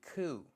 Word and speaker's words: coup: today is what is it cou cou a cou it's a noun it's spelled Co up hold on did I turn